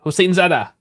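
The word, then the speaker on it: Hosseinzadeh: Hossein Zadeh. One word. I said it like it was two. Hossein Zadeh.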